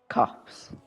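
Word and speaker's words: Copse: Also, do you pronounce it cops or corpse? Cops.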